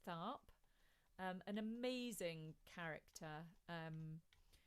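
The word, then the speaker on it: Tharpe: by sister rosetta peters i had got her name wrong last week i said it was sister rosetta thorpe and it is tharp um an amazing character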